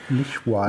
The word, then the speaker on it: Lishuai: Lishuai.